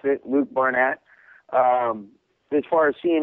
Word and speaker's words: Barnatt: knee knockout live uh bar barnat how you pronounce it Luke Barnett um as far as seeing it live um